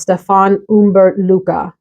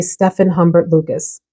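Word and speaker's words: Stéphane Humbert Lucas: The name of the house, I believe, is pronounced Stefan Humbert Luca. But I sound ridiculous saying that, so I'm just going to say Stefan Humbert Lucas.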